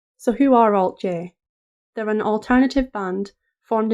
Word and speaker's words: Alt-J: our band name but we chose to pronounce it Alt J because we knew we were being played on the radio you really need to